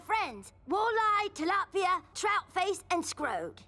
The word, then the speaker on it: Scrod: Walleye, Tilapia, Troutface, and Scrod. It's pronounced Scrod. Can you really make a quilt for us?